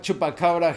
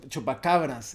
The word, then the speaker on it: chupacabras: You have chupacabra here, but it's better pronounced chupacabras if we are to respect the folklore.